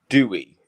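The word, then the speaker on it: Dewi: you know female name Ina Dewey is how that's spelled so there's a Welsh name called Dewey d-e-w-i um but to say I am is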